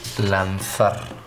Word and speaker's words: lanzar: Lanzar.